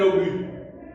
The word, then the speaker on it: obus: On dit un obus. Le S ne se prononce pas.